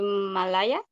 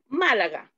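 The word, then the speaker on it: Málaga: I sometimes go to Malaya. That is the pronunciation? Malaga.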